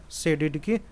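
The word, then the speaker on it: Tshisekedi: और देखिए प्रेसिडेंट अभी कौन है, देखिए फेलिक्स एंटवाइन, देखिए सेडिडकी, टी साइलेंट है, सेडिडकी, ये कॉन्गो के रहने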